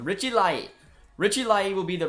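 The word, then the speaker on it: Laryea: Okay, new pronunciation. Richie Lai.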